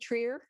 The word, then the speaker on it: New Trier: starting with New Trier first of all n Trier am I pronouncing that correctly Trier yes okay so let's start I'm afraid I